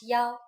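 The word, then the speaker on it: 幺: numbers and so on we pronounce one as Yao for example a bus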